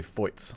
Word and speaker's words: Feuz: So Feuz is the French pronunciation, I've been told.